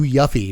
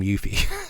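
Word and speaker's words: Yuffie: equipment you control to Yuffy, which is how I used to say her name. When I was a kid playing Final Fantasy F 7, this was her name was Yuff Yuffy the whole time. And then I got older, learned that everyone in the world pronounces her name Yuthi.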